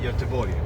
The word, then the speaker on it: Göteborg: But how do you really say it? It's Utenburg? Pronounce it Göteborg. Uteborg. Göteborg, of course.